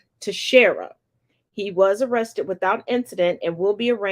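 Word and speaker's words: Teixeira: Jack and I did finally get a proper pronunciation to Shara he was arrested without incident and will be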